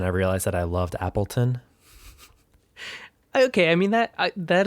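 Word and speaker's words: Appletun: tanky his name is Appleton is that the Apple like how you would spell it in English t-u-n Appleton sounds like a little fancy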